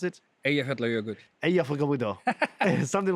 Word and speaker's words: Eyjafjallajökull: Like, how do you pronounce it? Eyjafjallajökull.